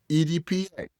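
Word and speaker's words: AEDPA: Its acronym is AEPA, pronounced EDPA, by lawyers and the judges who have to say it a lot.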